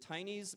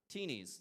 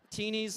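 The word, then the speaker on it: Tini: say her name right is it tines mac and cheese teenies thank you some people knew that you've actually Googled it teenies mac and cheese I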